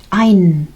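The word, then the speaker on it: ein: Se escribe con e. La pronunciación esa es con a, no ain. A ain. Siempre la combinación de e i es ain.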